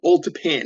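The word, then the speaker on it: Old Tappan: Um this was Old Tapen, is that right? Yeah. Old old Japan is how they pronounce.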